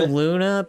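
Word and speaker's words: Loona: is different that's why yeah it's pronounced Luna God damn okay so I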